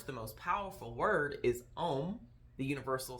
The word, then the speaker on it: Om: out so mantra um the om sound it literally is four sounds okay three letters four sounds first sound is the a okay i know you see om but you're really oh